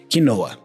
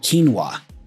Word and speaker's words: quinoa: we call it kinoa kinoa you know kinoa but in English we go quinoa quinoa really different isn't it you see how